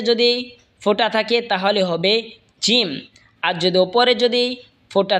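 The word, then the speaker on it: ج: এরপর এটা হলো জিম। জিম জিহ্বার মধ্যখান তার বরাবর ওপরে তালের সঙ্গে লাগা উচ্চারণ হবে জিম।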